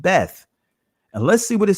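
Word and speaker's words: בית: to the bias and the israeli language is pronounced beth and let's see what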